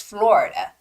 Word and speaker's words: Florida: and you would say but in English it's Florida because there's a stress on oh the vowel o so it's Florida Florida